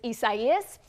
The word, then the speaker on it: Isaias: One that really stands out to me is Isaias. Number one, because a lot of people were confused about how to pronounce it. It is Isaias, and because it led